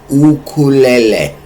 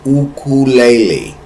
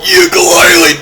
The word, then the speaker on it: ukulele: But first of all, the proper pronunciation of this is ukulele. Ule. Look it up. Look it up on Google. Say what is the proper pronunciation? It is ukulele.